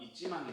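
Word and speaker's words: 一万: 그러니까 이때는 1만이라고 읽어야 돼요. 그래서 이찌망이 됩니다.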